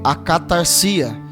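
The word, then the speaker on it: ἀκαθαρσία: impureza é só palavra a sua pronúncia em grego é a cá tarcia significa sujeira imundice impureza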